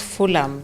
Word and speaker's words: Fulham: Uh sorry, I was corrected last time that it's pronounced Fulham. The H is silent.